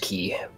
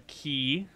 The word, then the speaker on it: quay: I think it's pronounced key, but uh carry on. All right. I will stroll down the key, the wharf, the dock, the pier, the peninsula, the artificial ground, the mooring station.